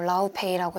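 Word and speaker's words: Laufey: 그래서 제가 많이 듣기도 했고 LP를 많이 산 가수인 해외 아티스트 분인데 레이베이라는 아티스트예요. 뭐 라우페이라고 읽기도 하고 레이베이라는 분인데 저랑 동갑으로 알고 있어요.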